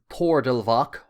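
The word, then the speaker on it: Toirdelbach: His name would have been pronounced as Thordelvach or Thordelvach, possibly later anglicised as Thorlach, but other variants exist, such as Thorlach and Trailach.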